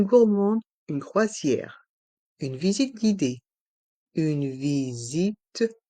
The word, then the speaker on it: guidée: se prononce gu GUID et le E de guidé à la fin est muet guidé une visite guidée